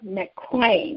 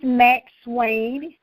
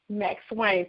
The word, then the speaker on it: McSwain: a sister feature slash author showcase with mcclain i'm if i'm saying your name wrong please correct me this uh it's max wayne max wayne thank you darling that's okay girl so i